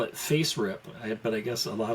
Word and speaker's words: FASERIP: it differently than everybody else I call it face Rip but I guess a lot of people pronounce it phase rip uh now for space whip if I was